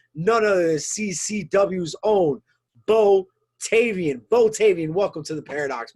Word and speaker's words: Bo Tayvian: the blue chip none of the ccw's own bo tavian botavian welcome to the paradox my friend you